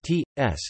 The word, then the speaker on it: čas: The near open can only appear in the word final stressed syllable before the syllable coda, as in saws, ts, time.